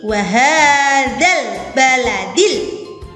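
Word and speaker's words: وَهَٰذَا الْبَلَدِ: Alif lam disukun kemudian bertemu dengan huruf ba. Ya, membacanya menjadi wahadzal baladil. Wahadzal. Ya, di situ membacanya jelas.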